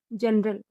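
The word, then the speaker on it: general: अगर जी के बाद ई या फिर आई या फिर बाई, इन तीनों में से कोई भी लेटर आए तो जी का उच्चारण जा होता है। और अगर ई आई वाई इन तीनों को छोड़कर कोई और लेटर आए तो जी का उच्चारण ग होगा। जैसे जी ई एन ई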